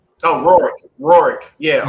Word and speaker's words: Rourke: Oh, Rourke. Rourke. Yeah, r o u r k e.